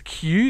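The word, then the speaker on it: 九: that was like well in Japanese nine is Q is yeah how you say it yeah so it's literally said as Q so um all the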